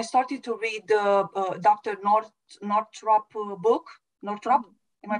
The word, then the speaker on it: Northrup: Northrup book. Am I pronouncing correctly?